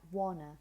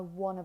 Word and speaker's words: want to: And this is why many times, because this is so weak, you might find that the pronunciation is actually something like wanna. I wanna break free.